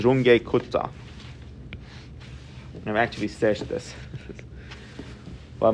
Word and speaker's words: Runge-Kutta: with this numerical method its german pronunciation is runge-kutta i've actually searched this but most people here call it wrong drunk or ranch kuta are we familiar with